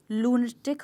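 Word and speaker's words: lunatic: ऐसे ही लसी में लून टिक हो जाएगा और इसमें भी स्ट्रेस चेंज नहीं होगा लून टिक का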